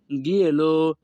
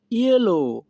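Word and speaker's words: glielo: এখানে বানান করলে উচ্চারণ হয় গিয়েলো, কিন্তু আমাদের সঠিক উচ্চারণ হবে ইয়েলো।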